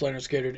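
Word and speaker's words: Lynyrd Skynyrd: ones I'm doing are Leonard skinnard pronounced Leonard skinnard and pawn shop by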